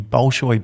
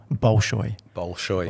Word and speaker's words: Bolshoi: Bolshoi. Bolshoi, yeah.